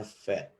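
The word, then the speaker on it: פ: ada feat the set karena Hai huruf ini tidak menggunakan dage's jadi kita membacanya feat Oh gitu ya kemudian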